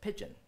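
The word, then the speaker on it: pidgin: pigeon English it's just pigeon and what is pigeon pigeon is what we consider a corrupt form of pronunciation of the word business so when they spoke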